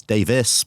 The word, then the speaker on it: Davies: of my last name because Davies in Britain is Davis but I I gave up